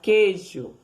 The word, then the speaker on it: queijo: E assim segue o LH, o CH, o QU, quando não é pronunciado, ó, 2 letras, quando não é pronunciado U, 2 letras e um único som de K, queijo, guerra, ó, o U não é pronunciado, certo?